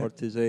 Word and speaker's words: Ortisei: Is that right pronunciation? Ortisei, yeah. Ortisei.